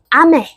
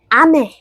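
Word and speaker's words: 雨: 한 아메는 위에서 아래로 떨어지는 음정으로 발음을 해줘 봅시다. 아메, 아메.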